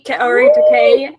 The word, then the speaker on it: Kaori: And today I have my first female guest with me, Kor. I probably said your name wrong. I'm sorry. No, you said it right actually.